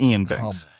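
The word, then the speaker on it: Iain: It's Ian. I I know it looks weird with the two eyes, but it's just Ian Banks.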